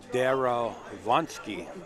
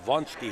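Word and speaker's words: Derewonski: Darowonsky. Darowonsky. No, Vonsky. He doesn't pronounce the W. Von, like Von.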